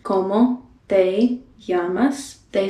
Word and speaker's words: llamas: The double L is pronounced differently in different countries. You can pronounce it more with a Y or maybe even sort of a J sound, like llamas. But this is a letter in Spanish that is not pronounced just like two L's. It's pronounced as more of a Y sound.